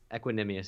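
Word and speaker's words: Equanimeous: It's Equanimous? Equanimous, yeah. Oh. Well, I've been pronouncing that wrong for years.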